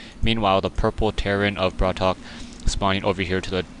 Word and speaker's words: BratOk: to the 12:00 position it's going to be hard for me to say that I'm I know I'm going to mess that up a couple times as it's just the way the capitalization it makes it looks like it's more like BR or brat okay as opposed to brat Haw coming in we